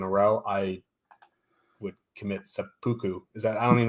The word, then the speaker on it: seppuku: tick tocks in a row I would commit seppuku is that I don't even know how to if that's pronounced yeah that's right yeah sapuku I just it's over so chiarelli make a